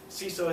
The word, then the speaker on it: CISO: the difference between a ceso and a CSO ceso is usually how people pronounce c information security officer usually the difference is